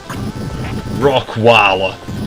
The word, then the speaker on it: Rockweiler: Rockweiler. It's just Rottweiler, but it's pronounced with a local lower class accent.